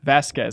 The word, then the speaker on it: Vazquez: Vasquez. I didn't want to blow it. The U is silent.